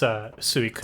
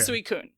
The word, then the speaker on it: Suicune: So it's Suicune. Suicune. Okay, cool. New Order said Suicune.